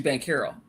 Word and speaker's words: Banchero: It's actually Banchero. It's pronounced Banchero. Like Carroll.